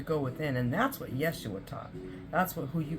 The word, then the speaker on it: Yeshua: It's spelled Y-E-S-S Y-E-S-H-U-A.